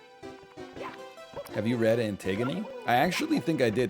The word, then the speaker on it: Antigone: know she's a lady antigone is a lady and i know that it is not pronounced antigone would be embarrassing to make